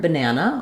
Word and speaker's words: banana: words and what happens to vowel sounds and syllables so in the word banana you see we have the letter a three